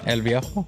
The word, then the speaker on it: El Viejo: How do I pronounce Viejo? that? What? Is it? Yeah. How do El I? Viejo? El Viejo.